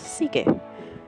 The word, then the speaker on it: sige: his name in Tagalog that's just pronounced sige it's okay but I'd probably just say Seek I take the necklace